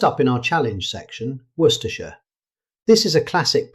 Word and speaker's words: Worcestershire: First up in our challenge section, Worcestershire. This is a classic pronunciation trap. Instead of trying to pronounce every letter, British speakers commonly say Worcestershire. The word is heavily compressed, so Worcestershire.